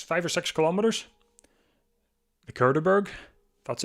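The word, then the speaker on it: Cauberg: the Curterburgg.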